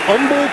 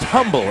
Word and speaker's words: Humble: The H is silent.